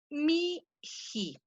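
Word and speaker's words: mihi: reactivo voy a tener mi he ahí fíjense cómo lo estoy pronunciando lo estoy pronunciando esa h intermedia la estoy pronunciando como si fuera una jota porque porque ahí tengo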